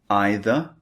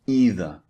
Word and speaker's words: either: They have alternative pronunciations that you might hear native speakers using. You can say neither or neither. These are the two alternatives. And you can say either or either. Slightly different. These are the alternative pronunciations.